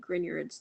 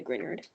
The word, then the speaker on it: Grignard: San draws 3 lines to equate Grignards to nucleophiles.